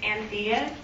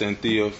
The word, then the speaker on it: Anthea: It's Anthea. If you don't mind, spell it no for problem.